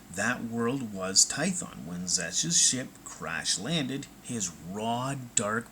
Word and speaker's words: Xesh: And when you know it, one of their top hounds, a man named Zesh, I think I'm pronouncing that right, his name is spelled Xesh, but basically he was sent to find a legendary, powerful world hidden deep in the core.